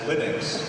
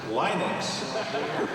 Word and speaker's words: Linux: on the other hand if you come from the west coast United States you pronounce it as linex and he said he